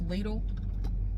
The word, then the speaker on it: Lidl: the street up here it's lidl and that is how it's pronounced here in the usa do not come at me that is how it is pronounced here across the street at little they have these apple